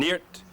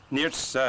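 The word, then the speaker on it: Niort: Well, where we're standing here today, Sertilly's 499 miles, so many yards, Rennes is 540, Nantes is 1,091 yards, and Neart, N-I-O-R-T to spell it, Neart's 673 miles.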